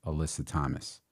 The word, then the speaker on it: Alyssa Thomas: You will be behind one of the best point guards in the W, which is Alyssa Thomas. Yeah. Am I pronouncing her name correctly?